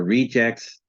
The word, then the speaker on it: reject: you hear the difference reject the verb and then noun are Rejects but when it is used as a verb the stress isn't on the last syllable he will reject the